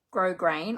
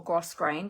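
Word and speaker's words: grosgrain: this one called um grow grain or gross grain depending on how you pronounce it ribbon that's not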